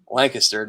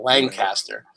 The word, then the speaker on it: Lancaster: Yeah, I know you're not in Lancaster because you say it wrong. It's Lancaster, not Lancaster.